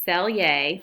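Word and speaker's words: Selye: that the College Board likes number one is sell yay that's how you pronounce that sell yes general adaptation syndrome otherwise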